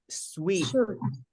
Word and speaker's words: suite: ah yeah all right sweet this is pronounced exactly the same as this word these are homophones these two words are